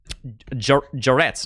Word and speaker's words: Jarrette: go ahead and read jarrette's name let's see uh it's impossible to pronounce my name it's pronounced jarrette is it is it a rolling r or is it a or is a hard r jar Jarrett or is